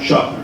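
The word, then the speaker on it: Shofner: It's not long, it's short. Short. Schofner.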